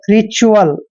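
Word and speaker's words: ritual: मात्रा पढ़ते हैं और जब भी टी यू ए एल चारों लेटर इकट्ठे आते हैं तो इसको हम चल पढ़ते हैं क्या पढ़ते हैं च अल ऐसे चुअल रिचुअल रिचुअल रिचुअल नहीं पढ़ना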